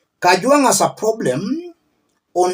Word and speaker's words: Kajwang': Mr Speaker first of all first of all pronounce my name properly I'm not a CH I am Kang not Kang number two Mr Speaker this is a problem